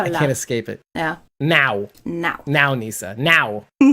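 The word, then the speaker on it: não: Like it's in my head now. I can't escape it. Yeah. Now, Nisa. Now. It's like now, but now. You have to kind of get that W at the end.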